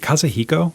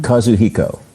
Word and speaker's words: Kazuhiko: Is it Kazahiko? Is that how you pronounce his first name? Kazuhiko. Yes.